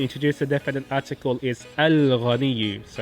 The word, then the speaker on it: الغني: Ghain is a moon letter because you pronounce the Al, the definite article lam.